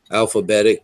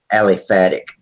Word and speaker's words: aliphatic: I usually use white glue, you know, alphabetic. Is that how you say it? Aliphatic. Aliphatic glue.